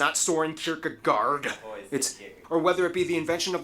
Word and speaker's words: Søren Kierkegaard: notable figures like author Hans Christian Andersen, philosopher Søren Kierkegaard, or whether How do you pronounce his name? That's actually how you pronounce his name. Wow. Søren Kierkegaard.